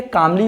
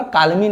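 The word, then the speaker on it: calmly: तो ऐसे सेंटेंस का एल जो होता है वो साइलेंट हो जाता है। इस तरह से ये कामली होगा, काल्मी नहीं।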